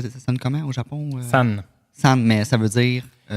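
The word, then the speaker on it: 三: sur les chiffres, et le 3, prononcé san, est considéré comme porte-bonheur en raison de sa similitude phonétique avec le mot signifiant naissance.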